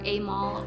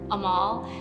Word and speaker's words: Amal: the piece of art I think the two biggest mispronunciations are Amal or Amal and I think it comes from my name being spelled a m a l instead of a m e l and I also say that because George Clooney's wife is AAL Clooney I think that's a